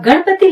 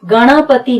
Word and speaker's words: गणपति: अब गणपति लिखते समय ध्यान रखें ये गणपति नहीं है, ये है गणपति। ग पर पूरा जोर है, ण पर नहीं है, इसलिए जी ए एन, एन के बाद ए नहीं आएगा।